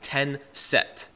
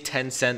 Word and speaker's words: Tenset: The name of this altcoin is Tenset. To me, it's pretty hard to pronounce because I keep saying Tencent, I don't even know why.